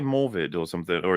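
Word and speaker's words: Morfydd: has he been saying morvid or something or is it because morphid is how you're supposed to pronounce that the Double D is a like a th sound in Welsh and then uh what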